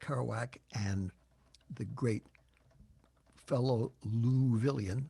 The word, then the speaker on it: Louisville: and the great fellow luvilion that's the way they pronounce louisville in louisville ron whitehead who was